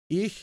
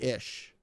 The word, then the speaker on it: ich: back to german like like ish ich is i and most people say ish that learn german like the difference between ish and ich is it's subtle but it's different and like i i